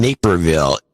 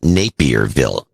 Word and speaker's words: Naperville: Brian Klimzak in Naperville, Illinois. I used to always pronounce that Napierville. But I think it is spelled Naperville.